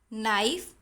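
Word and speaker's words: knife: जैसे ये वर्ड्स आप लोग पढ़ेंगे, नी, नाइफ, नॉट, नो. तो इन वर्ड्स में क्या कॉमन है, इन वर्ड्स में के का साउंड आ नहीं रहा है जब हम ये वर्ड्स को प्रोनाउंस करते हैं. सो के इज साइलेंट.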